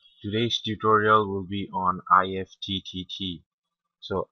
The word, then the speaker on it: IFTTT: tutorial will be on ift so IFD uh pronunciation if as in gift is like uh it